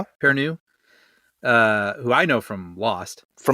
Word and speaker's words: Perrineau: Perrineau? Perrineau?